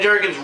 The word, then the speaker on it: Jurgens: it's really good Dan jurgen's artwork is just amazing stuff I can't agree with that definitely danger I love Dan Jurgens uh oh it's not Ginger does not work I'm sorry Dan Jurgens writing is awesome the